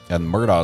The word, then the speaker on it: Murdaugh: And Murdaugh is pronounced several different ways by different people.